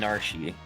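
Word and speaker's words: Narshe: Yeah, Narsh. It rhymes with Marsh.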